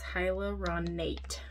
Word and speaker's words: hyaluronate: I want to say it like hyaluronic acid, but it's hyaluronate.